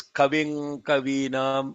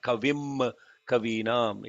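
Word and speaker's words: कविं कवीनाम्: The pronunciation watch out here is Kaving Kavinam, Kaving Kavinam. It is not Kavim Kavinam, it is Kaving Kavinam.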